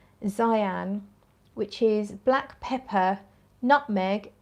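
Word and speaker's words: Xi'an: Let's go to, I think you pronounce it Xyan, X-I, and then there's a little apostrophe, A-N. Xyan, which is black pepper, nutmeg, cedarwood, rhubarb.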